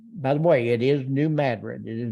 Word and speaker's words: New Madrid: um by the way it is New Madrid it is not New Madrid uh that's it's pronounced that way if you're out of the Ozarks new bourbon which became Bourbon Missouri also in 1793.